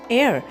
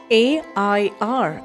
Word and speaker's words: heir: Next we have is air spelled as h e i r and we pronounce as a i r air and the sentence that we are getting